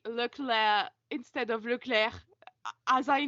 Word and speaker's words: Leclerc: It's the same way I say Leclerc instead of Leclerc. As I know, it's not pronounced Leclerc, but I always say it like that.